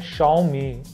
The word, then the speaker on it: Xiaomi: किया जाता है तो चाइनीज में एक्स को श की तरह प्रोनाउंस करते हैं इसीलिए कंपनी को हालांकि प्रोनंसिएशन है सॉरी स्पेलिंग है एक्स आई ए ओ एम आई लेकिन प्रोनाउंस कर करते हैं शमी श मी बट इंडिया